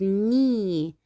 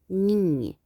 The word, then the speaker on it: knee: Look, you can see this is knee, ركبة. Again, this is knee. ال K silent، رح ألفظ فقط حرف ال N. knee.